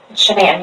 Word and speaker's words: Shanann: Pretty good friends with, is it Shannon or Shanann? Shanann, you pronounce it like shenanigans. Okay. Everybody calls her everything else but that, but it's Shanann. Right.